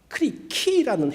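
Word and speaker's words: Chi: 그래서 이거를 PX라고 읽는데 PX가 아니고 이게 원래 헬라어예요. 저 헬라어가 바뀌어져 버렸네요. 다시 옮기면서 크리토스, 이 X가 키라는 헬라어로 키이고 P가 아니고 로라는 뜻입니다. 사실 R이에요.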